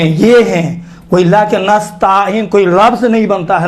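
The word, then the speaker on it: نستعين: ایاک نستعین، دیکھیں تا کے اوپر الف نہیں ہے، یہ چھوٹے حرکات میں سے ہے، زبر بڑا حرکات نہیں ہے کہ نستعین تلفظ کریں۔ اکثر و بیشتر تلفظ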